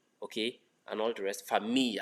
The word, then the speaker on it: famille: Famille as well. Famille. As if it's F-A-M-I-Y. Not famille.